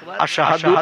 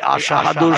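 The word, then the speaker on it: أشهد: এই আশহাদু শব্দটা শিন অক্ষর দিয়ে উচ্চারণ করতে হয়। তিনি শিন অক্ষর উচ্চারণ না করে সিন অক্ষর উচ্চারণ করতেন।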